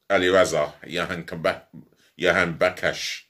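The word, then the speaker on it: Alireza Jahanbakhsh: Well, it's good to know one of their key players is back in, and Ali Raza Yahan Bakash. That's how you pronounce his name.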